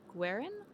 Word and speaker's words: Guerin: It would be pronounced as written. With the kind of W like Guelph. Oh, Guerin?